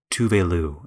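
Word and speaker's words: Tove Lo: Tuvelu is how you're supposed to pronounce it.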